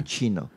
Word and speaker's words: cappuccino: Cappuccino. Yeah. So if you see an Italian word with C, usually it will pronounce it as ch.